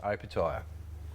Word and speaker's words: Opetaia: punters and everybody at home how do we pronounce the surname uh open tile open tyre yeah we've got a fight coming up in